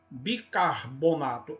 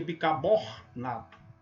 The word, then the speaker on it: bicarbonato: a primeira sílaba carmelita bicarbonato é de carbono bicarbonato marcar pronuncia bicabornato muçulmano em traz o